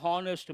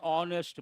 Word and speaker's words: honest: And will you say an honest man or a honest man? An honest man. H is silent.